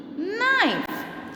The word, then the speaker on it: knife: silent g is there before n2 whenever you see k and g the letter k and the letter g before the letter n you are going to silent it you are not going to pronounce the sound of these letters it will be silent before n remember students before n